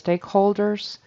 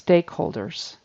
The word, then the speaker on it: stakeholders: example of syllable stress he says stakeholders and it's stakeholders um usually anytime there's some sort of describing word that one is in front of the noun in English and it's also receiving distress stakeholders what kind of holders